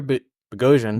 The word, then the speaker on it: Boghossian: ban for the Peter ban rhymes with explosion baby rhymes with explosion